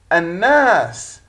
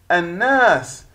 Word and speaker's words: الناس: هي اللام التي تكتب ولا تلفظ أثناء القراءة، ويأتي الحرف الذي يليها مشددا.